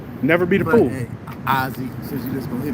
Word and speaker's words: Ossie: It's not actually Ozzy. It's pronounced Ozzy.